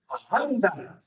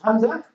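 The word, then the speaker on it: همزة: The name of the letter is Hamza, but the pronunciation is the same like Alif.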